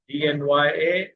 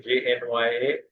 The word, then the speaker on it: ज्ञ: Generally ये जो ज्ञ है, कोई कोई उसको ज्ञ कहते हैं, ENY, या ज्ञ, ज और य, जैसे यहाँ लिखा है। अक्षर उसका ज और य एक साथ आने से ज्ञ उच्चारण, DNYA और या JNYA, ऐसा अक्षर उच्चारण है उसका, ज और य।